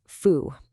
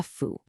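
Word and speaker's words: 夫: This character is fu, and it means husband, or more generally, an adult male.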